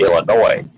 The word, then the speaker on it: Illinois: It's actually Illinois. The S is silent, right?